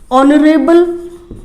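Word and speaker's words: honorable: हम बोल देते हैं ऑनरेबल मैन। ऑनरेबल मैन में जो साउंड आ रही है, हम पढ़ चुके हैं पहले भी कि एच साइलेंट है, लेकिन साउंड कहाँ से आ रही है, ओ लेटर से।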